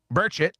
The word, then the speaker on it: Burchett: So Tim Burchchett Burchett, that's how he pronounces it from Tennessee said, "We need all the files so we know what's going on."